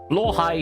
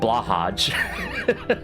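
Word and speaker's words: Blåhaj: So apparently it really is, it's supposed to be pronounced blowhigh and not blahaj.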